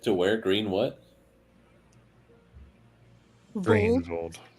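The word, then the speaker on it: Greenwold: Vold, Greenvolt. spelled like WOLD, like a German W.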